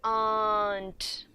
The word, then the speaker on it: aren't: This R has to be silent, and we say aren't.